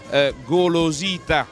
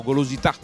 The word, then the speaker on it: Golosita: Enrico Salvatori, responsabile commerciale di Golosita, senza accento sulla A, io poco fa lo chiamavo Golosità, Golosità, perché è buono, mi veniva davvero naturale andarlo a dire.